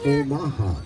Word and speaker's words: Omaha: The Omaha. How many folks have heard of the Omaha? How many folks heard of Omaha? Well, there you go. It's the same thing, but the proper pronunciation is Omaha.